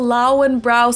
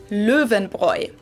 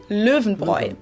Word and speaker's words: Löwenbräu: And then the A umlaut U diphthong is pronounced oi, so like O-I in English, like in coin.